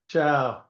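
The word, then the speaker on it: tchau: Ciao. By the way, in Portuguese, it's spelled T C H A U.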